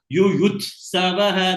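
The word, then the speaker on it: युयुत्सवः: And try to give emphasis by Yuyutsavaha. That it also should be pronounced well. You pronounce well, but give a kind of importance for it.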